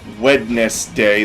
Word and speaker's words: Wednesday: a culture that has a day called wetness day that we pronounces Wednesday I think the takeaway